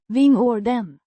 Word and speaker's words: vingården: Pronounced vingården with emphasis on the first syllable.